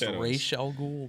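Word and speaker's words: Ra's al Ghul: daughter miles Garrett yeah his daughter yeah actually pronounced Rael ghoul but we have to get into that this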